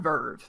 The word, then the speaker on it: VRV: You get like Crunchyroll, you get Funimation, you get like VRV? yeah, it's called Verve. I didn't know if there's pronunciation for it. I've just always seen it as VRV.